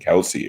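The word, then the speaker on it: Kelce: in paddy hill and kelsey if you want it i think i'll have yeah kels that's really his name his brother and him both have it have it pronounced wrong um i really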